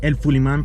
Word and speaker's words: El Fuliman: My channel El Fuliman, pronounced like that in Spanish.